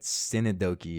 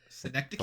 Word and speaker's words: synecdoche: don't even know what Synodoki is. Synecdoche? Bro, it's synecdoche, bro.